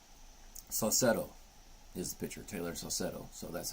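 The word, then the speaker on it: Saucedo: two and one cetto is the pitcher Taylor cetto so that's how you pronounce it got it two in one pitch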